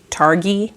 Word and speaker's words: Targhee: Targhee, because like ghee as in, yeah, I think that's correct.